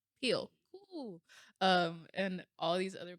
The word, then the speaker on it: Peele: Is it Peele or Peely? Peele.